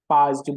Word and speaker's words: PAASD: Spelling थोड़ी अजीब सी है लेकिन याद तो करना ही है। पाज्ड बोलो, पाज्ड पाज्ड।